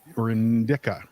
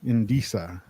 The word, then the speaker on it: indica: Liz, on a little lighter note, do you prefer sativa or indica? Indisa. I don't know how to pronounce that one. Indica. Indica. Thank you. That's not my preference. That's just how you pronounce it.